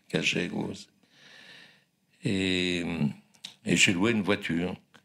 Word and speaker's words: Gallegos: Et j'atterris dans une sorte de ville, pas du Far West, mais du Far South argentin, qui s'appelle Rio Gallegos, qui s'écrit G-A-2-L-E, qui prononce Gallegos.